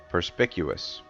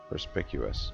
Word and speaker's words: perspicuous: Perspicuous. Perspicuous. I guess the C is pronounced like a K.